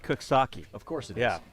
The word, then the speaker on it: Coxsackie: I found one time that on my way up upstate to the Baseball Hall of Fame, there's a place it's spelled Coxsackie, but it's pronounced Cooksaki.